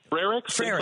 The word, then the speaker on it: Frericks: Frericks. Like Frere Jacques. Like Frere Jacques. Army barracks. Okay, yep. Frericks, who is our treasurer,